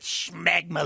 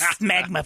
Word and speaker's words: smegma: I was about to have some funeral potatoes until Toledo said, "Schmegma like a Jew." It's smegma, first of all.